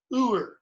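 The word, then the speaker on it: Heuer: Uer, H-E-U-E-R, like the name of the watchmaker. Tag Uer. The H is totally silent, okay?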